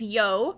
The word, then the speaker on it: You: chica's best friend is Yo which is very confusing because every time I put it in my notes um it's spelled y-o-u so I'm like yo and she and Chica